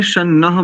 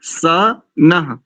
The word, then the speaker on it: स नः: दीपक जी और अमित जी दोनों, आपने शन्नः बोला, शन्नः नहीं है यहाँ पर, स नः, स नः पवस्व शंगवे।